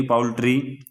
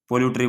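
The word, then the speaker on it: poultry: ये रहा इनफेंट्री पोलटरी पाउल्ट्री मुर्गी पालन पिजेंट्री कैवेलरी एक इसकी भाई पाउल्ट्री की स्पेलिंग आती है बहुत सारे इसको गलत करते हैं पोल्यूटरी बोल देंगे इसनु इसने रख देंगे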